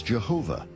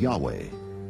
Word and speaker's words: Yahweh: Yahweh was named Jay because early European translators were ignorant of the correct pronunciation of Hebrew names many inadvertently referred to the name of God as Jehovah instead of Yahweh and ironically the name